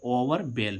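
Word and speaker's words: overwhelm: लेकिन यहां पर एल साइलेंट नहीं हो रहा है। यह यह मीनिंग उस रूल का अपवाद है। ठीक है? तो इसको हम क्या पढ़ेंगे? ओवरबेल में। यहां पर एल का उच्चारण क्या निकल रहा है?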